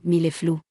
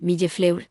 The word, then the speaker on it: millefleur: Si no hubiera oído la manera correcta de decirlo, probablemente lo habría pronunciado algo así como milleflou, asegurándome de no revelar este pensamiento mío.